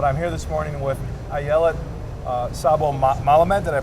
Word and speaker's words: Ayelet Szabo-Melamed: But I'm here this morning with Ayelet Szabo-Melamed. Did I pronounce that right?